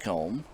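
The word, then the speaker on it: Coumbe: going to be Bo Combe coming to the plate. Number 20, Bo Combe. It's got a different spelling. It's C-O-U-M-B-E, but pronounced Combe.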